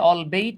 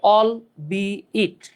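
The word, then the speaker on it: albeit: এটা অনেকে উচ্চারণ করে অলবেট অনেকে অলবিট এটার উচ্চারণ হচ্ছে অলবি ইট all plus B plus ইট অলবি ইট আপনি অল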